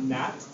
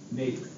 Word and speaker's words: Nate: is the same so it's not Nat it is n Nate nice job Oh I